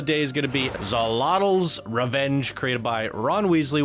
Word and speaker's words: Xolotl: Little did you know that this temple, Xolotl," learn how to pronounce Xolotl, and he gives me a Wikipedia. Okay, let's go learn. Xolotl. Xolotl.